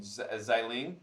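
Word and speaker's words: Xialing: We did see when they were doing in the in Xiling.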